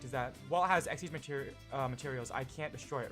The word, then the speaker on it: Xyz: spelled XYZ, but it's pronounced Xyz.